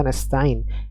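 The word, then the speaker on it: نستعين: iyaka ya dua harakat Mad Ar sukun pada kata nastain nastain ya empat harakat kemudian ada naber ya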